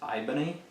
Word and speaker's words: Ibony: It's ebony, but spelled with an I. Ibony, he said.